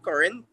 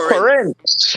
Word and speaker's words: Corinth: Actually is a different type of current. So it's spelled Corinth. But Uh-huh. due to Trini speech, we don't really pronounce it as current. We don't say So it's current. Corinth. We say Oh, okay. current.